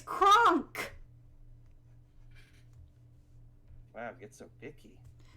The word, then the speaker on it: Kronk: He's Crunk, of course. Did you call him Crunk? As in... Kronk. That's what I said. You said you're saying Crunk. It's Kronk.